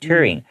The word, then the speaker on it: Turing: All right, you just take out the D and put a T instead, Turing.